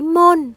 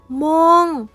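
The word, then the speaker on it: โมง: buổi sáng Đặc biệt, chữ /moohng/ này được viết bằng nguyên âm /ooh/ dài và kết thúc bằng âm /ng/ cho nên cách đọc đúng không phải /mohn/ mà là /moohng/ chữ /chaao/ này là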